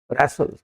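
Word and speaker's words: wrestle: तो जब डब्ल्यू के बाद आर आ जाए या आर से पहले डब्ल्यू आ जाए तो डब्ल्यू को साइलेंट कर दें। इसका उच्चारण आर से शुरू करेंगे, इसलिए इसको बोला जाता है wrong, because W is silent.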